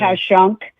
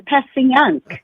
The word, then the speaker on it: Passyunk: Like a few people said, you mispronounced that. I said, no, that's how we say it. Yeah, right. Like Okay. Pashunk. They Yeah. said, no, it's Passyunk. I said, not Passyunk. to us, it isn't.